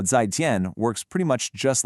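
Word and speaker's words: 再见: For that, we have 再见. That's pronounced kind of like 再见. This is your standard, go-to, polite way to say goodbye. And you can see how 再见 works pretty much just like goodbye does in English.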